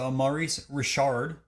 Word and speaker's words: Maurice Richard: Starting off the list this week, we have Maurice Richard, which pronounced it correct this time, but $1,100 for a 1952 Parkhurst.